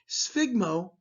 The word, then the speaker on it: sphygmo: Sphygmo, notice the pronunciation, the PH makes an F sound.